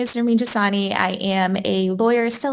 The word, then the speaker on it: Nermin Jasani: Lawyers Tell All, and today I'm interviewing attorney, Nermin Jasani. Did I say it right? You did. You got it. All right. So tell us a little bit about yourself. Sure. So my name is Nermin Jasani.